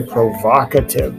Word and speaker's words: provocative: Could be provocative. It's actually provocative. They had a short O sound.